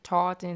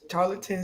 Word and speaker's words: Tarleton: Because I always say Charlton State. Am I saying it wrong? Tarleton State University.